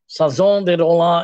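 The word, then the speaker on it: Chanson de Roland: অফ রোলান্ড যেটা ফ্রান্সে, আমি বোধহয় ইংরেজি উচ্চারণে করলাম কারণ ফরাসি উচ্চারণ আমার আসবে না, সাজন দে রোলা এরকম নাম ফরাসিতে, তো সেটা পড়তে হবে।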